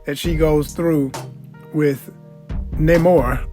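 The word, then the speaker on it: Namor: she goes through with Neymar or should I pronounce it no more which I really love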